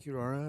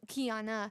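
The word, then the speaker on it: Qiyana: Is that Kiara or Kiara? Kiara. Yeah. Uh no no Kiana.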